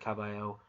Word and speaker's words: Kabayel: Yeah, that's how you pronounce it, Kabayel.